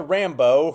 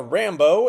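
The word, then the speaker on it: Rambeau: while her niece Monica Rambo who and her last name is spelled b eao and not you know Rambo which would have been a lot cooler but you know names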